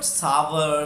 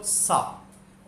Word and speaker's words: sour: इट्स not called सावर, सावर, it's called सार।